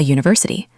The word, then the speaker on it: university: A university starts with a consonant Y sound, even though U is a vowel.